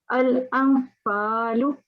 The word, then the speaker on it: الأنفال: Try to conceal it, try to keep it hidden and pronounce it with a light nasal sound for 2 seconds. So for example, the first one should be al-anfalu. Al-anfalu. Good.